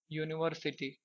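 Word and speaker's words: university: का प्रयोग करें क्यों क्योंकि इसका जब आप हिंदी में उच्चारण करेंगे तो ऐसे लिखा जाएगा यूनिवर्सिटी ठीक है तो यह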